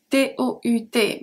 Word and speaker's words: tous: So the masculine are pronounced exactly the same.